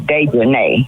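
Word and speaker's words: Daejhanae: Her name is Dejanay. Yeah, that's Dejanay. It's Dejanay because it's got A-E on the end.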